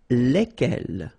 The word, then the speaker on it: lesquels: And it will give you the pronunciation lesquels. All right, so final S is not pronounced. So here, when you get this L-E-S, okay, it's just like the article, if you remember, les, okay? So it goes like lesquels, all right?